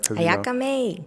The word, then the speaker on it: AyakaMay: I hope I pronounced it right. AyakaMay.